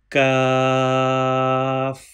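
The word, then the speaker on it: كاف: Kaf has thin sound and has no dot on it. Please read after me. Kaf.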